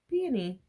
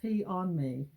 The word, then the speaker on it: peony: So it's P is the emphasis and knee. So peony. Not pee on me.